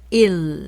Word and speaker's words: 일: 4로 들릴 때가 있습니다 1 발음을 할 때는 영어에서 L 사운드를 생각하시면서 일 하면서 혀를 붙이세요 입 천장에 그리고이를 말할 때는 양 옆으로이